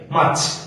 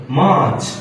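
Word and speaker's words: March: ওটা না ভাইয়া ফেব্রুয়ারি মার্চ এখানে কি আর উচ্চারণ টোটালি হবে না সাইন থাকবে তাহলে কি হবে মার্চ লাইক মার্চ দেখেন আপনি করে কি মার্চ এখানে একটা এটা লাগা দিলেন না মাচ উচ্চারণ হবে এটা কিন্তু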